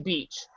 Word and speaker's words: beach: how do you say Beach how do you say this word can you say it for me beach like with long e yes yeah see you say it with a long e there like me so